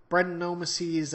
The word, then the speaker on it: Brettanomyces: Brettanomyces, I think, is the proper pronunciation of it, but this beer is apparently